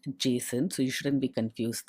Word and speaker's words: JSON: well the JSON module the term JSON is often pronounced jason so you shouldn't be